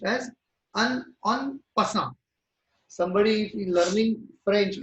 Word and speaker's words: en passant: that is n%. N%. That is what I pronounce. No? Its pronunciation is in French. It's a French word. En passant. It is called. It is pronounced as en passant.